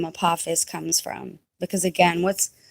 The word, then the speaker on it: Apophis: close to Summer Solstice guys pronunciation is apus named after um a Greek God apus I'll continue um